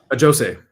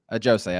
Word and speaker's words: Ajosé: Ajosé. Ajosé.